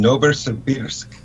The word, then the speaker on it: Novosibirsk: She's from Novosibirsk.